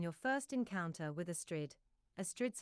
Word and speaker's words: Astrid: Astrid's first name is pronounced like pastry.